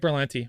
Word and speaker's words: Berlanti: Greg Berlanti.